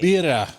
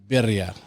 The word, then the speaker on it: birria: Birria. Am I saying that right? Birria. Birria. You gotta roll your R's.